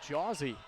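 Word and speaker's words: Jocie: thanks to our pronunciation guide we know it's pronounced Josie sounds like a childhood nickname for a mouthy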